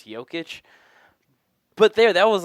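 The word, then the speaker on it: Jokić: only comes because Americans don't know how to pronounce Hyo kitsch but there that was like a good Joker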